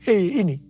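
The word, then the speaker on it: ה: yang terbentuk pada huruf He ini merupakan gambaran celah atau jendela mulut Tuhan yang menghembuskan rohnya perhatikan juga cara pelafalan huruf ini pun seperti orang yang menghembuskan nafasnya hei nama Abram berubah menjadi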